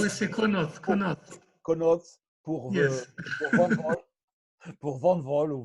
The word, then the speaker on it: Connaught: Bon, Connaught, je ne sais pas si je prononce bien. Connaught, c'est prononcé à l'anglaise. Oui, c'est Connaught.